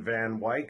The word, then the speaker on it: Van Wyck: a family member of Robert Anderson van Wyk who told me that's the way it's pronounced with that long eyes down so this is New